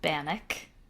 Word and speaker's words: Bannack: The town is spelled ACK, but it was named after the Bannack Native American tribe.